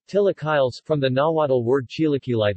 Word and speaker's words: chilaquiles: chilaquiles Spanish pronunciation Atilla Kyle's from the Nahuatl word